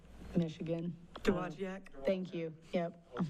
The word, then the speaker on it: Dowagiac: There's a video online from, I can't pronounce it, Dowagiac, Michigan. Dowagiac?